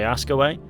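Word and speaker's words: Hascoët: the resignation of sergey askaway i googled how to pronounce his name and it sounds a bit like ask away which is a bit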